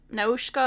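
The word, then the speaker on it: Nausicaä: And I might pronounce it different than you, but I just took the pronunciation from the movie because I watched it in Japanese. That's fair. So it's Nausicaa of the Valley of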